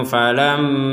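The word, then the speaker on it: فَلَمَّا: Naromfa na istau qada narom falamma, di sini ada mim bertasydid, kita membacanya dengung. Falamma, jangan sekedar falamma, tapi harus ada dengungan di rongga hidung kita.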